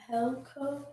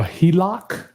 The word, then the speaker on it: HELOC: Can you help get a Helco? A HELOC, Look a home equity line of credit. for a sub-to-deal transaction. Can you get a HELOC for a subject to transaction?